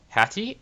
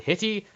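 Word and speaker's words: Hittite: second hitty mission so i was saying it wrong the first time in my first video i was calling them um hattie at one point because one of the displays one of the enemy uh teams it was called the hattians they in fact called the hitty i'll get the pronunciation right this time i promise so if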